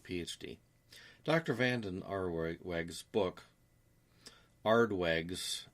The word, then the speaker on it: Aardweg: Vanden Aardweig's book, Aardweig's, that's spelled Aardweg.